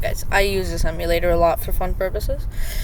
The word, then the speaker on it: EmuLator: It's basically emulator but with the e m and u pronounced like the emu as you can see in the background of my app.